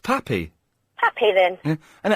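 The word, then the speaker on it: papi: Well, that's pronounced pappy.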